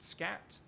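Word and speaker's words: skat: The really funny thing is, if you say darling in Danish, it's S-K-A-T, which is pronounced scat.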